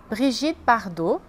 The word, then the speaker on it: Brigitte Bardot: E algumas atrizes famosas, como Catherine Deneuve, Brigitte Bardot, Audrey Tautou, Juliette Binoche, Emmanuel Béart, Gérard Depardieu.